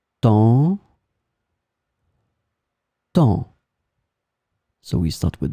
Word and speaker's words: temps: In this lesson, we will see together two words that will be written differently but pronounced the same way. Temps, temps.